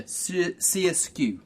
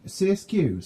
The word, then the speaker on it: SRSQ: Yeah, CSQ. CSQ, so it's not SRSQ. It is Right. C as in double ER, skew.